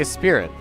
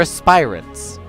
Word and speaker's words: aspirants: what they are aspiring why did I keep saying a spirit they're aspirants they aspire to be flamed on saying it wrong the whole time they're flamed on spirans